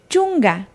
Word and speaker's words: chunga: Los números 9 y 10 se pronuncian de la siguiente manera. 9, iskun. 10, chunga.